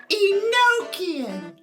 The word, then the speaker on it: Enochian: It's pronounced Enochian.